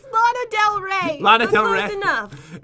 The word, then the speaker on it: Lana Del Rey: It's Lana Del Rey.